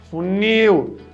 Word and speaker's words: funil: Eu falo funil. Funil. A última sílaba aqui é mais forte.